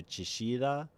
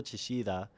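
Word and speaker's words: Chillida: Uh, so that's like a double L, which means you could pronounce it depending on your accent as like an SH or as a Y.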